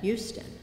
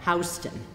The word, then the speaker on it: Houston: Now if you come from Texas, you pronounce that Houston. But if you come from Delaware, you pronounce that Hston.